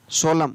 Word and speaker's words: solemn: ही, और M का म, N है वो साइलेंट, हिम। SOLEMN सोलम, CONDEMN कंडेम, तो यहाँ पर भी N है वो साइलेंट, तो यहाँ पर भी इसको पढ़ेंगे कॉलम, क्या पढ़ेंगे?